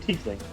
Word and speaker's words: tiefling: He's It's a he's a tiefling. tiefling. Yeah. Is it tiefling? I've always heard tiefling.